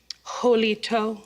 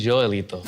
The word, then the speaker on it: Joelito: Now, Jolito. Actually, Joelito. What? Joelito. Jolito? Yeah. I've been saying your name wrong this whole time.